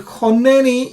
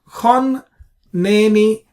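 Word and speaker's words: חָנֵּנִי: If that's the case, then choneni is actually technically chonneni. Chonneni. So we split the nun into two because of the dagesh.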